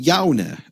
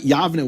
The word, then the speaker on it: Yavne: And if the vav were pronounced w, that would make it Yaune. And you wouldn't be able to write Yavne with a vav unless that vav was pronounced v.